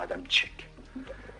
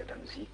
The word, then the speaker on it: Adamczyk: Les Allemands, c'est-à-dire Adam Tchek. Moi, on dit Adam Zik ou Sik. Et quand j'allais la voir... Parce qu'ils connaissaient sans doute la tchèque. Oui, et puis la façon de prononcer, ça c'est quelque chose que moi j'avais jamais intégré, cette prononciation de mon nom, parce que mon père ne le prononçait comme les Français. La plupart du temps c'est Zik, c'est Z.